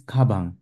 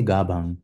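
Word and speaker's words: 가방: A backpack in Korean is kabang with like a K-like sound. We don't say gabang with a G sound.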